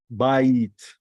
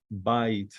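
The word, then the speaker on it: בית: herek in the vowels we say ah e see how we pronounce it buy it buy it which literally means house all right the you'd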